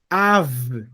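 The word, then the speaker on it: אב: Tenho mais um som do V, que é o som de vaca, V de vaca. Então, eu pronuncio isso aqui. Av. Ab. Av. Som de V Av. no final, bem forte.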